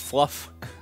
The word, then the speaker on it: Fluff: the way I am prince fluff it rhymes with snuff prince snuff its fluff